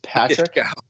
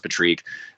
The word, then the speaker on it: Patrique: Yeah, because nobody ever said just Patrick. Nobody's like, it's just Patrick. Yeah. It's just Patrick. But I always thought Patrique, it was Patrique for what it's worth. Yeah, Patrique. Well, it is Patrique. Technically, it was supposed to be pronounced Patrique. I'll go Patrique. Patrique A sometimes is what it gets mispronounced as, but.